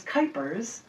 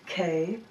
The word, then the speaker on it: Kuypers: Don't get Janet Jackson because my last name is Kuypers, rhymes with hyper, Kuypers, and you would be able to find a lot of them right there.